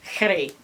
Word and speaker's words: Kheri: And the Herihob, and it's spelled typically as Kheri or Y, but it's one of those particular H sounds in ancient Egyptian, so it's Kheri, like the corresponding sound in Arabic and Hebrew.